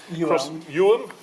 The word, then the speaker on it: Ewelme: Ewelme.